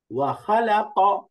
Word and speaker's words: وخلق: بعث واو فتحة و، خا فتحة خ، وخا، لام فتحة لا، وخلا، قاف فتحة ق، وخلق، وخلق، وخلق।